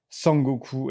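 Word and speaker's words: 孫悟空: été très réadapté et sukong en fait en japonais ça se prononce sang gooku et en fait c'est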